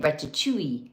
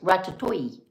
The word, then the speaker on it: ratatouille: and she said, no, it's not chew, it's like toy. So if she knows English words, then I know I can put that in my head and go, oh, it's ratatouille, but not ratatouille, because I'm from the South. I always want to put that little hang on there.